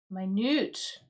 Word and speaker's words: minute: But we can also read this word as minute. M I like minute. Um which is you can find it. I'm looking for the pronunciation minute which actually means very extremely small.